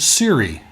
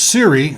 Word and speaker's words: Siri: call that intelligent agent Siri and why did they well because s RI is too hard to pronounce so if you put an AI in there it's Siri and the technology for